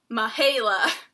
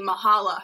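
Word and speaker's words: Mihaela: one having people mispronounce my name my name is spelled naha LA and it said mihaila and throughout my entire life people have called me Mahalo Michaela I don't know they put season caves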